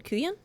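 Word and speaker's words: couyon: Kuyan. Yeah. C O U Y O N. Pronunciation, which I know I've probably heard it. Okay. Cajun French word is called ku yan.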